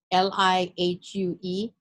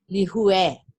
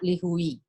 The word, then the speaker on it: Lihue: So for example, the word lihue, L-I-H-U-E, the correct pronunciation of it is actually lihue, not lihui.